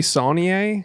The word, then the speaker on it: Saulnier: Jeremy Saulnier, Saulnier, I thought it was.